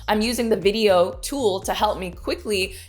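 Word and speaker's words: Vidyo: And that is a tool called video, and it's spelled kind of strangely, it's V I D Y O.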